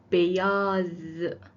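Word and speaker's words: beyaz: اول سفید هستش که به ترکی میشه بیاس بیاز رنگ دوم قرمز هستش که به ترکی میشه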